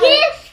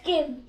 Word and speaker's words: give: Give. Hold on. The E is silent, so don't listen to that E. So it's give.